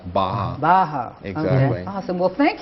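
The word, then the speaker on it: Barra: r r a but it's Portuguese so it's actually pronounced Baja Baja exactly awesome well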